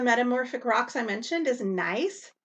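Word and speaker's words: gneiss: rocks i mentioned is nice and it's pronounced just like you would say have a nice day it's formed from granite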